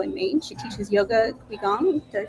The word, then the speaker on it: Qigong: She teaches yoga, qigong. Did I pronounce that right? Qigong.